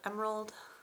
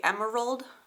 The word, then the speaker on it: emerald: we have tumbled Emerald how do you guys say it do you say Emerald or Emerald is there an extra syllable in there because that's how my husband says it and I disagree I say Emerald this deck number four